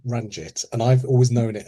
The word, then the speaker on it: Ranjit: go with our proper pronunciation. So Sundari and Ranjit.